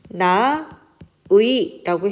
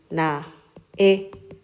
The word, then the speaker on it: 나의: 자 그래서 예를 들면 나 의라고 했을 때는 나 의도 되지만 어 선생님 요거 잘못했네요 자 의로 하는 것이 원칙이나 에로도 허용한다 그래서 예를 들면 나 의라고 했을 때 나의 나에 둘 다 가능합니다 자 여기까지가 이중모음 의를